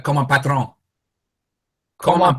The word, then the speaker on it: patron: more like comme un patron. Comme un patron. Patron. Como patron. Yeah, patron. Patron. Entrepreneur. Yeah. Coffee. You don't have to pronounce the end in full.